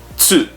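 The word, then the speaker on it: つ: but just remember it's try to put your tongue at the top of your mouth and make a t sound and an s sound at the same time or same time tsu okay after that there's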